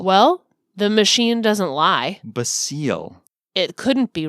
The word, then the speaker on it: Basil: the Great Mouse Detective basil his name is basil okay it looks like the word we all know to be basil but it's basil okay what is our